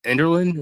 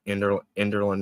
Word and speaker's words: Enderlin: It's Enderlin, is that correct? You got it. Enderlin, North Dakota.